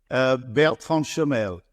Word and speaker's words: Bertrand Chemel: Award this year with us today from 2941, Bertrand Chemel. How'd I do? You did well. You did well. What's the actual pronunciation, sir? Bertrand Chemel.